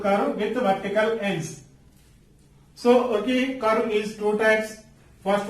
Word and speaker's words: ogive: So ogive curve is two types.